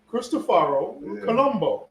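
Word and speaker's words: Cristoforo Colombo: I went down there today and it straight up said Christopher Christopharo Columbbo his name in Italian.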